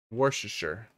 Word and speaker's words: Worcestershire: Worcestershire. Yeah, so you ignore a lot of it. There's a lot of extra letters in there for fun. You can just say Worcestershire.